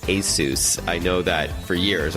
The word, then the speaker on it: Asus: forward slash radio and yes the company is pronounced ASIS I know that for years I called it Asus and many other people do it as well